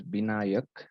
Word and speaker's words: Binayak: there is good so it's not it's it's pronounced as binayak all right thank you are you from the